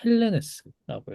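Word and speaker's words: Ἕλληνες: 항상 이 모음이 나왔을 때 대문자면은 또 갑자기 까먹는데 대문자일 때는 이게 앞에 붙습니다. 이 기시금 표시. 그래서 이게 이렇게 돼 있으면은 엘레네스겠지만 지금 이렇게 돼 있기 때문에 헬레네스라고 읽어야겠죠.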